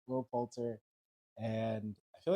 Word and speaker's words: Poulter: Jenna Ortega, Paul Rudd, Will Portier. Is that how you say his name? I think it's Poulter. One of us is really wrong. I'm going to be honest, it's probably me. Will Poulter.